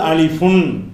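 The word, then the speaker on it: ألف: அந்த மாதிரி அடிப்படையில் இந்த அலிஃபு என்கிற எழுத்துக்கு ஒரிஜினல் உச்சரிப்பு அலிஃபுன்.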